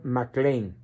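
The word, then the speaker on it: McLane: que no lo sepan se escribe Mac Lane en inglés pronunciación mcclain todo junto mcclain guion Ocampo por qué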